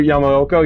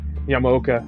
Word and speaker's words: Yamaoka: i checked the twitter don't blink just akira yamaoko yeah yamaoka excuse me i can't pronounce where uh names here he comes